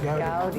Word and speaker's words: Goudie: Goudie.